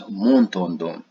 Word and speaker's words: Montandon: This is a French and French-Swiss name. This would be pronounced by the locals as Montandon.